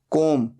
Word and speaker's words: comb: बाल बनाना, कोम, COMB। यहां पर B साइलेंट होता है, सिर्फ बोला जाता है कोम।